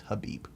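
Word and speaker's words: Khabib: I'm just going with Habib now because it's not cubby because apparently from where he comes from the K is silent so it's huh beep and anyway he was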